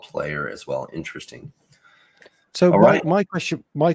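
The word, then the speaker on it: PLYR: to p l yr which is probably pronounced player yeah Essen own versions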